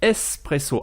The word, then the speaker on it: espresso: s'écrit b ureau et un expresso se dit en italien espresso avec un s à la place du x et en faisant le